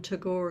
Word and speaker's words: Tagore: of my Indian brothers and sisters, for the pronunciation. Tagore, am I correct? Yes. Yeah. So a poem from Tagore, Speaking to Love.